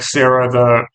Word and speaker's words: Sarah: His name is spelled like Sarah, the woman's name, but I think it's pronounced Sarah.